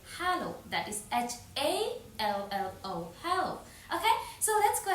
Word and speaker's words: hallo: That is h a l l o hallo.